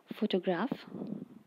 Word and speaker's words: photograph: In the word photograph, the syllable we add stress is to is fo.